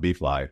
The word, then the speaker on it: BFLI: it's a unique value proposition right so it's pronounced bfly and thank you the name behind that is